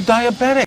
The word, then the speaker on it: diabetic: Diabetic, the stress is on bedic.